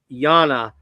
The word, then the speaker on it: Anne: Oh, and we've got a new person coming from the Netherlands, and his name is, it's pronounced Yana, but it's actually spelled A-N-N-E.